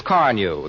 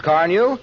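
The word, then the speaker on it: Carnu: If I were you, I'd buy a package of Johnson's Car New and clean and polish my car this week. You won't regret it. It's spelled C-A-R-N-U, Johnson's Car New.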